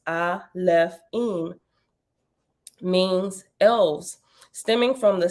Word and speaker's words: Alefim: the plural form that the plural alaphene pronounced I left in means elves stemming from